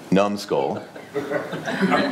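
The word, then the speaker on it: numbsql: name from slumber to n um SQL which is pronounced numbskull you might be asking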